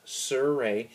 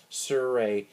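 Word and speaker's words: surae: they are the triceps suray and suray is spelled s r AE triceps suray triceps one one head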